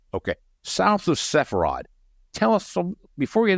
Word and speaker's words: Sepharad: Am I pronouncing that properly, Sepharad? That's correct. Okay. South of Sepharad.